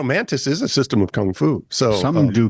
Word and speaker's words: kung fu: fu so some do Gung fu they're Gung Fu and Kung Fu are the same thing no because Bruce Lee does gung Fu well that's because he's pronouncing it from his dialect yes you know why